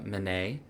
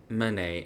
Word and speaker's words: Manet: Uh, Edward uh, Manet.